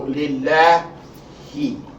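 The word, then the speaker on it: لله: So your pronunciation of the lamb here, this second lamb, not the first lamb. The lamb of concern is the second lamb, not the first lamb. Is, again, la instead of law.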